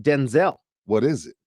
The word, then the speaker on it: Denzel: But you mentioned Denzel Washington.